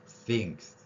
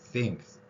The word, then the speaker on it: think: 말에서 쓰이는 표현 중에 싱크 대라는 표현 있죠 그 설거지 하는 곳 그곳이 바로 우리의 시옷 발음 쌍시옷 발음 하고 있는 띵이 발음입니다 think 다르죠 그래서이 th S 발음이 다르기 때문에 th 대해서는 제가 시옷